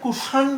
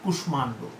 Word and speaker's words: কুষ্মাণ্ড: আমাদের নিয়ম অনুযায়ী কিন্তু এটা কুষাণ্ড হওয়ার কথা, কুষাণ্ড হওয়ার কথা, কিন্তু এটির উচ্চারণ কি? কুষ্মাণ্ড। ঠিক আছে, ওই যে সংস্কৃত নিয়মেই যে কুষ্মাণ্ড।